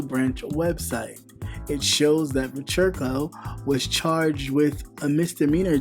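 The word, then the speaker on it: Vechirko: He has also made political donations to President Donald Trump and the Republican Party, Bogdan Vercherko, that's how you say it, age 35, was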